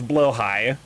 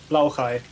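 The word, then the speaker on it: Blåhaj: Blahigh glass shark spelled like blah but pronounced as Yeah, it's blowh high. Blowhai.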